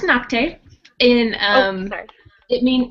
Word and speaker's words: Nocte: a little bit about knock um well it's pronounced noct in um sorry it mean no no it